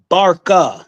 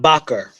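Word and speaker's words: Barca: And it's and it's Hannibal and it's Hannibal Barker, not Baker.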